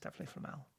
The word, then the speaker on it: Flamel: It's definitely Flamel. I've heard Stephen Fry say it.